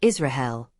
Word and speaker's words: Israel: the Latin script pronunciation in classical Latin it would be pronounced Israel with a trilled r English Israel from Latin